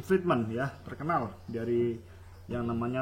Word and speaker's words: Friedman: macam penelitian hukum lagi-lagi menggunakan teorinya Friedman ya, Friedman ya bacanya, Lawrence M.